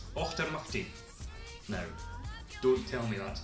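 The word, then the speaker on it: Auchtermuchty: you see HT y since Fife and it's pronounced after mukti no don't tell me that's not an amazing place name dr.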